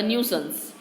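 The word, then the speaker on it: nuisance: कुछ देर पहले जो किताबें मुझे संकट लगती थी, न्यूशंस यानी संकट, न्यूसंस कहते हैं उसे, प्रोनाउंसिएशन उसका न्यूसंस.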